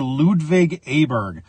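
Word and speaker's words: Ludvig Åberg: golf swing of Swedish golfer Ludwig aberg that is the American pronunciation of his name again Ludwig is from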